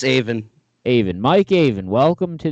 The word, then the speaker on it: Avin: Yep, it's Avin.